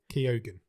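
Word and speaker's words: Keoghan: move far from him because according toog according Keogan to is how you pronounce it okay I've just Googled it good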